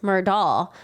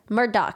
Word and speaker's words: Murdaugh: name just sounds entirely mispronounced I would have pronounced it Alex murdal but his name is pronounced elec Murdock and I'm like how did you get Elle